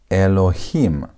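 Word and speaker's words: אלוהים: Notice that you always put the tonation. The emphasis when you're pronouncing is put on the last part.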